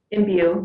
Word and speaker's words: Imbue: Imbue, yeah, Imbue.